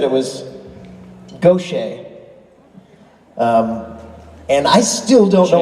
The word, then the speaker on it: Gaucher: Then the powers that be said it was Gaucher. And I still don't know what the right way is, but I'm gonna. It's Gaucher.